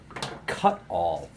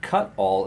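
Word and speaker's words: Cutawl: But this is something called a K11 cut-all. And cut-all is spelled C-U-T-A-W-L, as in awl, like an awl for poking things.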